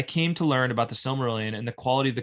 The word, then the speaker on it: Silmarillion: I came to learn more about the Silmarillion and the quality of the conversation. He says, I'm sorry, I put the wrong emphasis on the wrong syllable. I came to learn about the Silmarillion, and the quality of